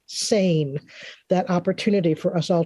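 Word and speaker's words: CEIN: creative educators international network it's c-e-i-n but it's pronounced sane that opportunity for us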